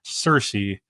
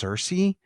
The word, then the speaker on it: Cersei: that caught me is I've always heard it pronounced Cersei but they say it like cersi or they they say it different on the show and it it one